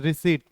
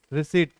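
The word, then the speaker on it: receipt: Next है, Natasha had withdrawn money money after the ATM dispense the रिसीट, इट्स नॉट रिसिप्ट, it's right pronunciation is रिसीट। क्या पढ़ते हैं हम इसको? रिसीट, P silent होता है, आफ्टर की जगह बिफोर।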